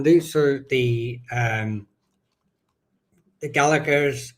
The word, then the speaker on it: Gallaghers: So, the um the Gallaghers Gallaghers, depending on your um your pro- pronunciation. I believe Americans emphasize the G. Whereas in Ireland, we tend not to.